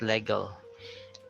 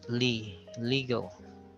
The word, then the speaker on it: legal: Then we have legal. As Filipinos, we often pronounce that as legal. No, it's wrong. It's legal.